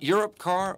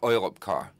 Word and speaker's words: Europcar: yoga Misha I Yoakam is it europcar or oil up car well pick your choice you can pronounce it both ways but europcar is the international pronunciation oil car would be in germany and his badge certainly